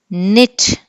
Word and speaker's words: knit: Knit, K is silent.